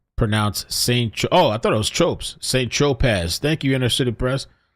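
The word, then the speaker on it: Saint-Tropez: Tropez, pronounced St. I thought it was Tropez. St. Tropez.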